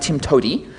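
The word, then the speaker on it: TIMTOWTDI: the PE motto is there's more than one way to do it which is pronounced Tim to um I'm going to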